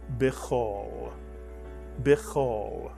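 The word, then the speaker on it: בְּ: letter of a word it's also under a letter with a d and therefore it is pronounced one syllable be be and the word call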